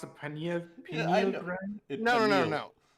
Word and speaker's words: pineal: Do you want to know about the penile gland? I'm pretty Dude, sure it's pronounced a pineal Yeah, I know.